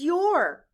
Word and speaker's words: your: y o u r in this word the letters o u stand for the sound ooh blend with me your